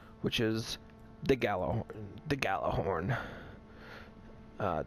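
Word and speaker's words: Gjallarhorn: is the Gallo the gala horn uh J is silent and uh and they are got a good Jello horn it's galahorn so basically this thing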